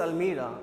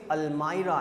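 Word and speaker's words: almirah: The right pronunciation is अलमायरा, नॉट अलमीरा, लेकिन हम लोग अलमीरा बोलते हैं, अलमारी हिंदी में होता है, प्रोनाउंसिएशन हम लोग अलमीरा करते हैं, द राइट प्रोनाउंसिएशन अलमायरा, ओके।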